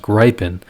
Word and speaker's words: Gripen: from sweden that told me that it's not pronounced gripen it's pronounced gripen and i've been following this other guy's youtube